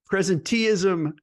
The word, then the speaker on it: presenteeism: got a really interesting topic to go over presentism and resen ISM I pronounced that right right Chris yep perfectly I